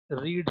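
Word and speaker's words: read: पढ़ते हैं रेड second form को, लेकिन वो लिखी जाती है रीड ही, ऐसे लिखी जाती है, पर पढ़ी जाती है रेड। रीड रेड रीड ऐसे पढ़ी जाती है।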